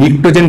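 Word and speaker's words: Pnictogen: নিকোজেন, নিকোজেন থেকে এই নিকটোজেন কথাটা এসেছে, গ্রুপ 15 মৌলগুলোকে নিকটোজেন বলে। এখানে পি দিয়ে শুরু হবে, কিন্তু ইংলিশ বানানটা একটু ঘটমটো আছে, পি নিকটোজেন, পি পি দিয়ে শুরু হবে, আর এই কথাটা এসছে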